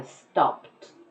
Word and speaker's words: stopped: I stopped. It sounds like a T.